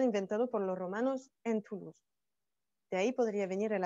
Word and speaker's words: Toulouse: Et si les Toulousains prononcent la ville de Toulouse, ils vont prononcer la fin, Toulouse.